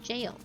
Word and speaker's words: gaol: you rot in the jail. I always want to say gaol, but it's just pronounced jail.